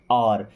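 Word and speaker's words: hour: I study for एन र इसको हर नहीं पढ़ते और यहां पे एस साइलेंट होता है ओके आई स्टडी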